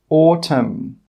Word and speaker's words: autumn: Some example words are column, autumn, solemn, condemn, hymn. In all of these words, we are not pronouncing the N.